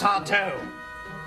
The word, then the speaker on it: Sardo: That's Sardo. No, mister. Accent on the toe.